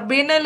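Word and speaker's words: banal: Okay, इसका कई बार देखो एक्सेंट का अलग है, इसको बनाल भी बोलते हैं, ठीक है। कई जगह प्रोनाउंसिएशन बेनल करेंगे, बनाल भी होता है इसका।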